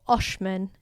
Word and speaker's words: Oxman: is called San Lorenzo oxman or Oshman is how you'd pronounce it it's kind of like